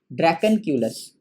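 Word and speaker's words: Dracunculus: क्या हो जाएगा, ड्रैकेनक्यूलस, DRACUN, ड्रैकेनक्यूलस, CULUS, ड्रैकेनक्यूलस। ड्रैकेन, स्पेलिंग को जरा सा देख लीजिएगा एक बार,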